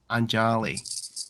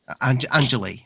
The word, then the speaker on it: Anjali: it and why why why is that angeli anjali anjali sorry sorry it's because so many people have said it angelis so many people have